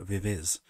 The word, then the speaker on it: VIVIZ: comment going you know you're saying the group's name wrong and it's like na nabra I'm not it's vivis uh and it stands